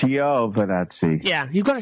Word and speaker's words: Giovinazzi: So it's the Alfa Romeo, and Antonio Giovinazzi is apparently how you pronounce the name. Giovinazzi. We've been saying... I think he was taking the mickey. I hope so. It's Giovinazzi.